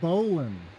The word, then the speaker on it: bowline: a bow line knot it's pronounced bowan okay okay so first